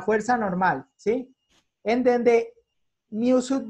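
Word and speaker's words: μ: Esta H al revés es una letra griega que se pronuncia mu, ¿sí?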